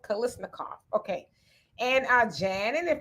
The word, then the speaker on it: Kalashnikov: Kalashnikov. It's not said how it's spelled. Kalashnikov.